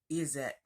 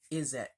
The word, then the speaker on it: izzat: that is is that that's how it's pronounced pronounce it is it yeah is it but it is spelled i z z a